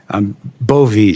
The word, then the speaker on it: Bove: Bove, I'm looking at your resume. It's Bove, right? Bove, Senator, like Bove, with a long I E.